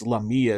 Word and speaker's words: Lamia: And we're going to talk about the Lamia or Lamia, depending on how you want to pronounce it. It's Lamia as far as I can tell because it's a Greek word.